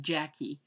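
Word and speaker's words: Jacque: I would pronounce that Jackie Williams.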